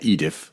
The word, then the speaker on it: EDIF: Dance International Film Festival, EDIF, like it's your Edith, like a British accent, like lower class British saying Aunt Edith, Edith.